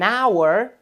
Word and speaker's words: hour: Veja que estas duas palavras começam com uma consoante, mas como o H, neste caso, é mudo e não faz aquele som de como em house, nós vamos utilizar o an, porque o som é de vogal.